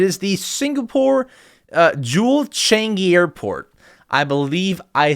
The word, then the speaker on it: Changi: Singapore airport it is the Singapore uh Jewel Changi Airport I believe I said that right I